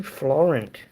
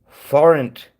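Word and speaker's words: forint: 20 Florent. What does that mean? Florent. Does that give France? It's not France. Florent. A Florent. Sorry, I'm saying it wrong. Not Floren. Florent.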